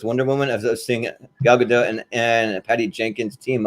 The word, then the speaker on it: Gal Gadot: to pronounce her name gal gadot is that right gal gadot okay it's a little harder to explain but it's sort of like a jetty you know uh when